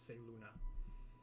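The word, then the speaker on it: Selûne: of saiyan say luna i always pronounce it wrong it's say luna actually i guess she probably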